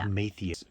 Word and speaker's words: Epimetheus: I'll help you with the pronunciation. Thank you. Because Please it comes from do. Greek mythology. Yeah. Epimetheus was Prometheus's brother.